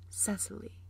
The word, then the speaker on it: Cecily: is see II see i.l.y or as phonetically pronounced Cecily and I shall be your amateur high school